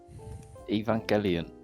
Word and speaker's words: Evangelion: Can you pronounce it properly? Evangelion.